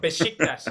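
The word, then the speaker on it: Beşiktaş: How do you pronounce it? The Turkish side. I think it's Besiktas. Besiktas. Besiktas, yes.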